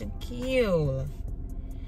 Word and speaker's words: Shaquille: they act like they don't know how to pronounce my name it's Shaquille then I got to spell it out for